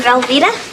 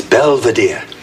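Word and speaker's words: Belvedere: A frequent gag on the show involves Heather's airheaded best friend, Angela, who almost always mispronounces Mr. Belvadier's name. It's open Angela. Hi, Mr. Velvita. Hello, Angela. And it's Belvadier.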